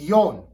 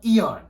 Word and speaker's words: Ion: It's Yon, not Eon.